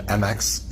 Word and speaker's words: Mx: do so for pronunciation MX is pronounced like mix like you're mixing things together so it's mixed Sequel